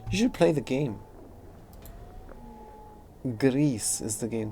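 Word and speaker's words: Gris: No, it's spelled G-R-I-S. Grease. Just like Grease. Only it's spelled differently.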